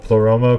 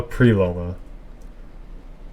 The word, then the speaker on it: Pleroma: Also, I don't know if you noticed, but Cherenkov's actor called Pleroma Preloma. He said it wrong.